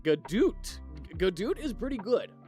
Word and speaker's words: Godot: So, I don't know about you, but I pronounce it Godot.